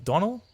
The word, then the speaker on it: Donal: Donal? It rhymes with tonal.